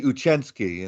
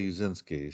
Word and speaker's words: Uscinski: it so really yeah they say uchinski and I say uzinski so okay so even